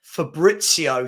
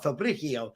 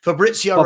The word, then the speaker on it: Fabrizio: his name correctly there Fabrizio sorry I didn't say the Z I was like fabrio Fabrizio Romano just announced that